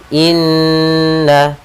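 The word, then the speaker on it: إنّ: kita namakan dengan gunah cara membacanya adalah kita menahan suara nnya dua harakat Inna kemudian na pada lafal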